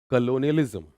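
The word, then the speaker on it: colonialism: कविता से कलोनिज्म की प्रोनाउंसिएशन नहीं हो रही, बोलना पड़ेगा, आराम से बोलना। कलोनियलिज्म, कलोनियलिज्म, कलोनियलिज्म हो जाएगा।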